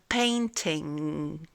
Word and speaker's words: painting: Alors en fait là il ne faut pas prononcer le le G final, c'est un son un peu particulier, pas très évident. par exemple a painting. Voyez cette espèce de son final. A painting. Donc le mieux c'est en fait vous vous faites comme si que vous alliez prononcer le son G mais vous vous arrêtez juste avant de le prononcer.